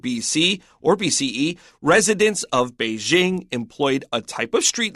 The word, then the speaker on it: Beijing: I have to ask why did you say Beijing instead of Beijing well because we're trying to do an English only article so I use the American pronunciation of be Jing although I probably haven't